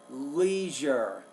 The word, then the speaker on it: leisure: with my family now you want to say the word Leisure Leisure that's two syllables not one I think you were